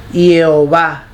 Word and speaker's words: Jehová: Mire, el hebreo de la Torá, en las 4 letras se pronuncia Jehová, Jehová, Jehová.